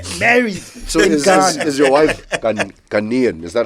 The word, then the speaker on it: Ghanaian: So is your wife Ghanaian?